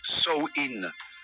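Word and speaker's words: Samhain: une ancienne fête celle appelé samhin prononcé sin pendant samhï on croyait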